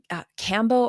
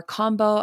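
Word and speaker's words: Kambo: Another one I want to try is Cambo or Combo. I've heard it pronounced both ways, but it is where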